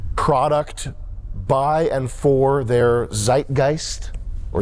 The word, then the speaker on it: Zeitgeist: is a unique product by and for their Zeitgeist or Zeitgeist if you want to go with the moist critical pronunciation Zeitgeist means Spirit of the times um